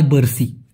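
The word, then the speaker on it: bersih: পরিষ্কারকে Malaysian ভাষায় বলা হয় বার্সি।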